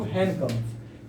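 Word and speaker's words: handcuffs: इसमें दोस्तों D silent है इसलिए डी को यूज नहीं करेंगे और पढ़ेंगे इसको हैंडकफ्स।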